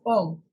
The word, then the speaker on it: Om: They pronounce om.